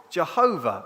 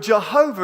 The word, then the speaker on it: Jehovah: Yehovah, which is then with the mistranslation from the Hebrew into the Latin, because Latin doesn't have Y's, it has I's or J's, and the W was pronounced as V, they translated it as Jehovah, which is where that word comes from.